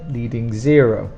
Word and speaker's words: leading zero: And for pronunciation, leading 0. The stronger sound is the 0. Leading 0, leading 0.